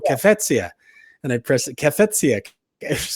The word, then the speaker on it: Cafezia: And I pressed it, Cafezia.